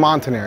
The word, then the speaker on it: Montaner: Montaner, yes.